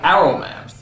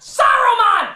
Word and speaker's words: Saruman: Only because Aruman is kind. It should have been his friend Aruman. How long since Aruman? Aruman. Saruman, you idiot! It's pronounced Saruman! The S isn't silent!